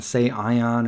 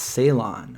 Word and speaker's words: Ceylon: Ceylon is how you pronounce. Thank you. So I'm over here saying say Ion or Lon, but it's Ceylon.